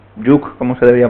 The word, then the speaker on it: jOOQ: Vale, pues voy a hablaros de JOQ, Juk, como se debería pronunciar, pero lo pronunciaré JOQ muchas veces porque es la costumbre.